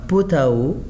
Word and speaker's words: pot à eau: the word without ao, but if I will say with ao, with the water, is meaning pot à eau. I must pronounce the letter T. So un pot à eau, un bol, un pot